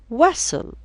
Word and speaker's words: whistle: Whistle, silent T.